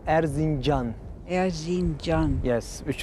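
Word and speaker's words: Erzincan: what's its name i know i could never pronounce it it's called arzinjan arzin john john yes which is an old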